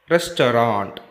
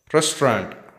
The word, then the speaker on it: restaurant: Restaurant. We can pronounce it with two syllables. Restaurant.